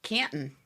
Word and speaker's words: Canton: Canton. Good job. Good pronunciation.